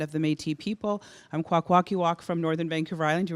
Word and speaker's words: Kwakwaka'wakw: I'm Kwakwaka'wakw from Northern Vancouver Island.